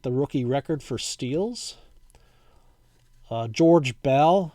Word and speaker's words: George Bell: rookie record for steals George Bell I know we would pronounced that today as Jorge but back then he was called George Bell and he actually changed the spelling to the English name George uh Ed farmer Mike